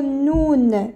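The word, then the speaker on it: نون: la crire en français pour savoir comment ça se prononce ça fait noun comme ça on prononce cette lettre ça se prononce noun noun voilà alors on va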